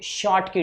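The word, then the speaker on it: Schottky: हम लोग बोलते हैं शॉर्ट की डिफेक्ट प्रोनाउंस भी आपको प्रॉपर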